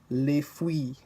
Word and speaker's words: fruits: The consonants at the end of the word aren't usually pronounced. Consider these examples: l'argent, l'argent, vent, les fruits, les fruits.